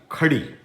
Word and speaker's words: Kadhi: And this is called, its name is actual curry, Kadhi. And now the word which is used, the letter to pronounce Kadhi, does not exist in English. So we're going to call it curry.